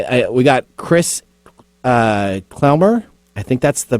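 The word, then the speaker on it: Klemmer: can spell my last name my name is pronounced clemmer but that's fine just call me chris chris okay good good nathan can nathan can say that word so clemmer yeah i can say that no not word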